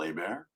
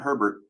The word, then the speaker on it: Hebert: Yes, the last name is pronounced Hebert, not Hebert, not Herbert.